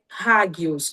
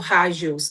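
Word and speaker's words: ἅγιος: E a palavra grega é hagios, ou hagios, dependendo de como você quiser pronunciar. A questão é que ambas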